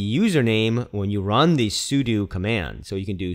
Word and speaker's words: sudo: in I pronounce it sudu some people pronounce it sudo in either case it's short for super user do which will allow a